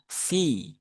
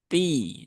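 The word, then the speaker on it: في: Jadi dia fa fi fu ya fi bukan pi tapi fi ada hamesnya ya fa ah ada hembusan udara yang e keluar ketika huruf itu diucapkan kemudian albiladi albilad di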